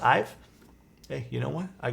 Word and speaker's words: IVE: I only listened to their first song today, so it's pronounced Ive.